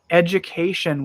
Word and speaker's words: education: the cinema last weekend education we pronounce the G sound no you you have a j sound Ed J that's a